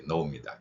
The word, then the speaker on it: know: 이 단어에 예, know입니다. KNOW가 되겠는데 O하고 W가 같이 붙어 있습니다. 앞에서는 아우 발음 한다 그랬습니다.